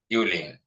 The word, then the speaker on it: Eveline: Some people pronounce this name as Eveline or like that. It's okay. Since it's a name, anyone can pronounce their own. But correct name is Eveline.